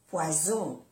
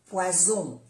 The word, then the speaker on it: poison: Tanto si queremos decir una cosa u otra, hay que pronunciar aquí bien las dos S. Porque pez, poisson, poisson. Las dos S, poisson. Y si no, es veneno con una S. Poison, poison, poison. ¿Ve que se pronuncia como una Z? Poison, poison, una Z suave.